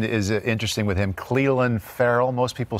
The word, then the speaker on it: Ferrell: account and pronounciation is interesting with him Cleveland Ferrell most people say thank you help me I call yeah although and the the tiger si D came in and said it's fer all right I said everybody in the world was